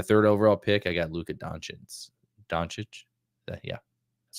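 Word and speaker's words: Luka Dončić: I got Luka Doncic.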